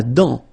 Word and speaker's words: dent: La dent, final T not pronounced.